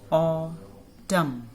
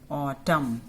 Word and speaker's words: autumn: Autumn. A-U-O की sound. T-U-M, tum. Autumn. So N is silent here.